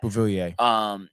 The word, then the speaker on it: Beauvillier: He said fans were a little upset about Ratty going, but Beauvillier, is that how you say it? I think you said right. Yeah. Beauvillier.